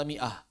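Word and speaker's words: مائة: Huruf alif pada kata miah. Maka itu alifnya tidak berfungsi sama sekali. Seperti apa contohnya? Miah itu mi ah. Maka di sini di atas alif ada sifar mustadir. Ini benar-benar dianggap tidak ada sama sekali.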